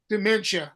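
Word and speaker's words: Doomentia: Europe, it would be Dumenia Records. Dementia. My wife just corrected me. Dementia. Dementia Records. But it's spelled like Doom. That's why I always say Dumenia, but it's Dementia, but it's D-O-O.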